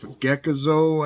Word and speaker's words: Gekizo: you're searching this stuff geckozo I think is how you pronounce it GE uh k-i-z-o you also see Plex